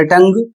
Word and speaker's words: tongue: अगला शब्द है TONGUE, इसे पढ़ा जाएगा टंग और इसकी हिंदी होती है जीभ।